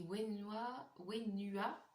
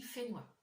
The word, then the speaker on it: Fenua: Alors ça s'écrit Wenua, je m'excuse si j'écorche, mais ça se dit Fenua.